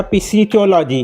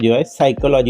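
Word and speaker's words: psychology: काय स्पेलिंग आहे पी एस वाय सी सायकॉलॉजी वाचतात त्याला मग सायकॉलॉजी म्हणजे एसवाय पासून वाचते बघा सायकोलॉजी पण पी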